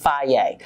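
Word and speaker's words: Fage: yogurt is i eat fairy yogurt f-a-g-e it's pronounced faye um and i love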